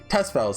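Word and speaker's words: Tusspells: Tespels, that's how you say it.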